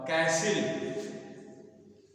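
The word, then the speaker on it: castle: उरण होता हैल और कैसिल कैसल मतलब होता है कैस य ट का उच्चारण नहीं होता कैसल कैस दरबार ब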